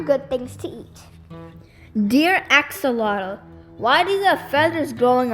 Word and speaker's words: axolotl: climbs and other good things to eat dear axolotl why do the feathers growing out of your